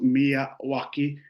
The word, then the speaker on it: Miyawaki: fabulous webinar last month on mwaki Forest it's pronounced mwaki named after a f botanist Akira mwaki of